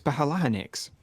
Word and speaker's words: phalanx: One was playing Rome Total War at the time, and they were arguing about how you pronounce phalanx. Is it phalanx or phalanx? It's phalanx.